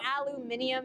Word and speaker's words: aluminium: yeah and I mean I know aluminium is probably the correct pronunciation you know but in America here in America you would get made fun of for saying that in school or in public because people can be brutal actually the US is